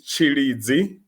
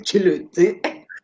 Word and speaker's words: Tshilidzi: I pronounce your name without your name without Tshilidzi? Tshilidzi. I feel like I need to be vendor with this one. Yeah, no, Hi, definitely. Tshilidzi. Yeah, no, it's Tshilidzi.